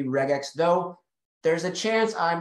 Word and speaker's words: regex: people say red Jack some people say regex uh Paul what camp are you in I'm in the rig in that hard G because it's regular Expressions so I figure it's base best to be regex though there's a chance